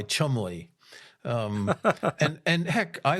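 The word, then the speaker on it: Cholmondeley: one for me is is the one that's pronounced chumly. That but that's spelled with like 18 letters. Oh, yes. C H O L M O N D L E Y. Chumley.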